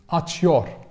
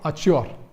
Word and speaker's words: açıyor: because this way, somehow, it would be difficult to pronounce for me as a Turkish, basic Turkish. Açıyor, açıyor, açıyor. If I go on saying açıyor, I will end up açıyor. Tamam? So I need this helper sound. Açıyor, açıyor, yeah. It's way better now. It's way better to, the way easier to pronounce.